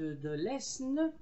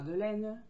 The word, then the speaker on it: Aisne: qui s'appelle Le Démocrate de l'Aisne. On ne dit pas de l'Aisne, on dit de l'Aisne.